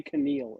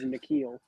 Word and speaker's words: N'Keal: So now Justin Herbert, the real Justin Herbert, gets to have his own N'Keal Harry to play with. I love that you always say Keneal. It is N'Keal.